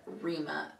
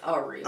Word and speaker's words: Arima: I just said Arima. It's Arima. Arima, yeah. I was like, I missed a syllable there.